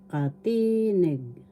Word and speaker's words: katinig: Tagalog katinig first syllable ka second syllable t third syllable nig the accent is in the second syllable katinig katinig and so the